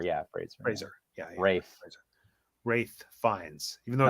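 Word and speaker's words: Ralph Fiennes: Rafe Fiennes, even though it's spelled Rafe, not Rafe.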